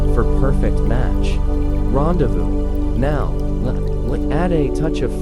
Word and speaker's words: rendezvous: Rendezvous at midnight or rendevous at the calf around 300 p.m. It's pronounced rand randez voos for quintessential.